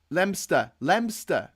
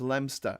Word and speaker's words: Leominster: Anyway, Leominster, Matt Martin saying, is that how you pronounce it? Lemster. Leo Minster. It's pronounced Lemster, I think.